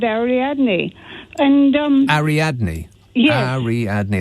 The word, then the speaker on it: Ariadne: Ariadne. That's 4 syllables.